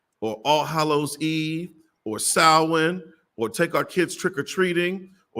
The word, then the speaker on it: Samhain: this school is Samhain, is how you would pronounce Samhain.